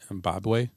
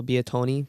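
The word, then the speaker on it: Bitonio: Bobway? No, Biatoni.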